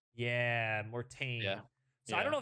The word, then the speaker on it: Mortain: I'm gonna butcher the pronunciation. Is it Mortain? Mortan? yeah, Mortain.